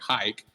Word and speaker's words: Hike: And basically, if you're holding our token, which is the Health AI coin or Hike, the A is silent, you're going to have access to premium services.